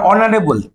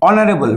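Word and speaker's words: honourable: আবার অনারেবল, এইচ ও এন ও ইউ আর এ বি এল ই, অনারেবল। মনে আছে এগুলো? এইচ এর একটারও উচ্চারণ হয় না, ও দিয়ে উচ্চারণ হয়।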